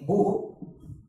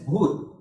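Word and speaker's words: भूः: When we chant it, we will never say Bhuhu. We will just say it as Bhur.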